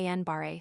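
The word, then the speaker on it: Guillain-Barré: Gilling pronounced ganbareet syndrome is an example of a demyelinating disease of the peripheral nervous system.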